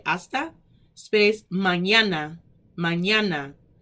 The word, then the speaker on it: hasta: we have hasta manana hasta the same asta h-a-s-t-a asta space manana manana m